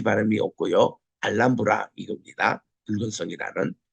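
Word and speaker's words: Alhambra: 알한브라 펠리스 읽잖아요 근데이 현지 발음은 알람브라 읽습니다이 뜻 자체가 붉은 성이라는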